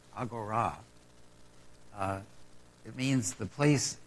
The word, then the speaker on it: Agora: tells me that uh it's pronounced in Greek Agora uh it means the